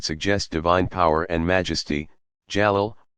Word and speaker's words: Jalal: God's names include about equally those that suggest divine power and majesty, Jalal, pronounced Jalaal, and those that speak of his beauty and infinite attractiveness, Jamal, pronounced Jamal.